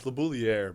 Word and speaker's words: LaBouliere: I got Labouay on the podcast. Am I pronouncing that correctly? It's awesome. It's Labouier, but I think the French pronunciation labouier.